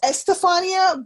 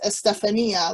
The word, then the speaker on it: Estefania: lot of estherphonias that they go with estofania but my name is estefania like how do you pronounce it yeah yeah it's kind of like stephanie with the uh at the end oh so close well